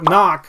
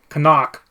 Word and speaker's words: Knock: yeah man yo so knock as we refer to him often but here he's you know uh the proper pronunciation is in play so now you must call him kanak n homie but uh